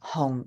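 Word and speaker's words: 紅: pronunciation so you've got home home is your fourth low falling home and the high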